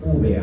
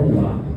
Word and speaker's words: úvea: se le conoce como úvea. Úvea, no uva, úvea. Ya se escribe igual, pero con una E, ¿no?